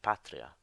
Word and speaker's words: patria: the accent uh sorry if if the second last syllable is short then the accent falls on the syllable before as in the word Patria so really uh the accent